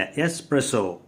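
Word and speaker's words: espresso: காஃபியில் எக்ஸ்ப்ரெஸோன்னுவாங்க, இல்லை எஸ்ப்ரெஸோ. எஸ்ப்ரெஸோ.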